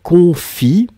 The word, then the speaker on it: confient: Donc, il se confie, et on ne prononce pas le ENT, mais on doit l'écrire, hein, souvenez-vous.